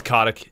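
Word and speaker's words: Kotick: expand thanks Bobby Bobby kotek what' he give you K do you mean look like medkits is that is that how you say it it's codic yeah Bobby CTIC B just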